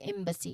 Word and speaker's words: embassy: the first syllable which is the the stressed part here of the emphasized your lips close and then open for a short e sound here. So m and then ba basically b very easy b c there's a long e sound here. So combine those together embassy one more time embassy.